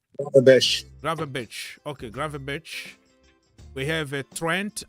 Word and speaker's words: Gravenberch: How do you pronounce his name? Gravenberch.